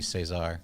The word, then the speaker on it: Cesar: It says, actually, I think it' be Cesar because it's spelled the Spanish way.